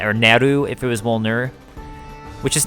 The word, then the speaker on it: Wolnir: Yeah, I had a lot of people mad at me in my my Volnir lore video for pronouncing Volnir as Wolnir, because I didn't know, but now I do. Also, the Japanese katakana of Volnir has it as Woruniru.